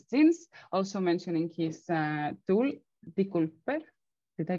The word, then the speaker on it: decoupler: and differential express genes, also mentioning his tool, Decoupler. Did I pronounce it correctly? It's a hard name. It's a decoupler. You can pronounce it however. Decoupler.